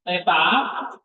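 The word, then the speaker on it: θήτα: Teta th huruf besarnya seperti gambar bulat gitu nomor darah.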